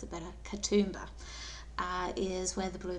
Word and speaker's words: Katoomba: i guess part of the sydney region uh kentumba sorry i'll pronounce it better katoomba uh is where the blue mountains are and